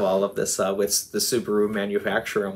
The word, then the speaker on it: Subaru: Guess what the Pleiades in Japanese is pronounced as? Subaru.